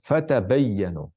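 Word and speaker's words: فَتَبَيَّنُوا: ini kita baca fatabayyanu Tapi qiraat yang lain ee Hamzah alqisai dan khalaf membaca fatatabbatu baca apa fatatabbatu fa ta tab ba tu ya kita baca fatabayyanu qiraat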